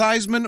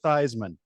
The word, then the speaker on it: Theismann: in 8th grade, and we grew up as the name Theismann. Good German name, but there was this really good football player who pronounced it Theismann. And actually, he didn't either. He kind of got stuck with it because that's the way people thought it was pronounced.